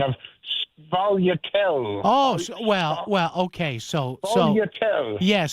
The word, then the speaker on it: Sfogliatelle: Jesse Leavenworth about the pronunciation of Sfogliatelle. Oh, okay. So yes. So the correct, Mr. Har, a Roman Italian. In other words, the Italian I took in high school, Sfogliatelle.